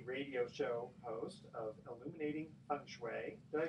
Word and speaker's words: Feng Shui: you're also a radio show host of illuminating punch way did i pronounce i frankly and absolutely okay good on